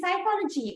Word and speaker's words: psychology: is stingy why because they teach some letters without pronouncing them calling them a silent letters right it says p